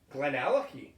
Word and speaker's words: GlenAllachie: I would say GlenAllachie. GlenAllachie. GlenAllachie. Yeah. Like Allen Key.